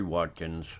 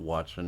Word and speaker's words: Watkins: you this is corey watkins his name is not watson it's watkins i pronounce it wrong i